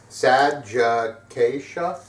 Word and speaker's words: Sadgiqacea: four minutes of me just like trying to pronounce the name I'm so glad that let me try it okay sad Jaa yeah that's it sag sad yeah um yeah